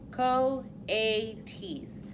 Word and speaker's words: coyotes: Brisbane said, reading from the letter pronounced co-a-t's.